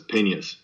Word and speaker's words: Peñas: And it's actually Spanish, and there's a little accent on the end, and people forget about it, so it's Peñas.